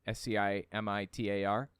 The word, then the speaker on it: scimitar: And so this weapon that I have here, this is a Gerudo Scimitar, I think is how it's pronounced. Scimitar.